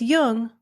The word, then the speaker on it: Jung: just be sure to pronounce jung with a hard j so with special thanks